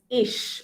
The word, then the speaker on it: ich: So this is ish. Okay, CH is pronounced as sh, and ish means I.